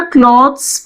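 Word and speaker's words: cloths: अब क्लॉथ से हमारा क्लॉथ्स भी बनता है और हमारा क्लोथ्स भी बनता है, दोनों की प्रोनाउंसिएशन में भी फर्क है। क्लॉथ्स, क्लोथ्स।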